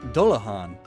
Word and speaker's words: Durahan: Durahan has the same name as the Headless Knights, the Irish legends. However, in Japanese, it's pronounced Dolahan.